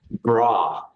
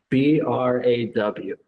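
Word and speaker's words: braw: Bra. Can you spell that? B-R-A-W. Oh, bra. Oh, bra is beautiful.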